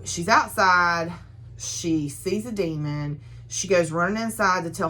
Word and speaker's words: Daimon: So the demons, which is spelled Daimon, the demons feed off